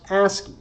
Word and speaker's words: ASCII: And these characters are themselves encoded using a scheme usually pronounced ASCII.